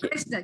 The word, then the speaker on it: कृष्ण: हाँ, और उच्चारण के स्थान पर जब हम संस्कृत ऐसा कहेंगे, संस्कृति, कृष्ण ऐसा जब कहेंगे, तब र और रू के बीच में जब जिह्वा ऊपर लगती है तो रू का थड़कन के साथ उच्चारण होगा, क्योंकि उसमें स्वर रू है। आप समझ गए ना? हेलो, वो क्रू नहीं है। हेलो, बहुत लोग ऐसा बताते हैं कृष्ण, तो गलत हो गया, क्योंकि क्रू उसने बताया,